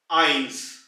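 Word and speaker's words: eins: दूसरा है 1, आइंस, आइंस।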